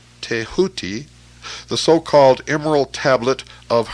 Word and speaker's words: Thoth: the ibis-headed scribe of the gods Thoth, pronounced Teahuti, the so-called emerald tablet